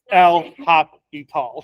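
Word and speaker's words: L'Hôpital: Talk happy talk because you don't pronounce the S it's l hopp e tall it's right you don't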